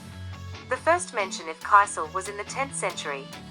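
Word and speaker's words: кисель: dessert what is kaisel the name is from the Russian word meaning sour pronounced Kissle the first mention of kisel was in the 10th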